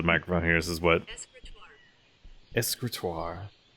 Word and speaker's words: escritoire: Escritoire. So it's not the E. It's not like a hard I sound.